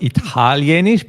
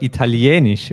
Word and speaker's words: Italienisch: And the language is Italienisch. Italienisch. Yeah, and here the stress moves to the E. It's not Italienisch, but Italienisch, right?